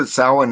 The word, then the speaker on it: Samhain: all great too yeah no one no one pronounced it souwan until the last seven years or so i thought it was sam but okay i think